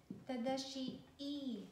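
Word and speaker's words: 正しい: So you have to elongate the shi because there is double I. So it's shi. It's not shi. Tadashii. Tadashii means right or correct. Guys, if you pronounce this as just tadashii, it's a name. It's my husband's name. Okay, so one more time. You have to elongate the shi sound. So it should be tadashii.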